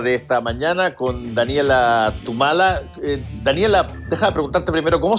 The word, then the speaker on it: Thumala: Tal cual, Tumala. Ah, Tumala, ya, porque sí, como tenía esa TH no sabía si es que era anglo o no, y no quería decirlo mal.